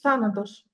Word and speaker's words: Thanatos: it's the same in Greek as well it's Thanos Thanos yes Thanos you say you enunciate this